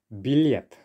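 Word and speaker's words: билет: will be dramvai dramvai a ticket very useful word billiard okay stressed on the last syllable there now in russian we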